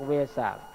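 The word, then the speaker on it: වෙසක්: เสียง เพี้ยน จาก อินเดีย คือ เวลา วิสาขะ คือ เพ็ญ เดือน 6 เขา เรียก เวศะ และ ชาว ศรีลังกา นี้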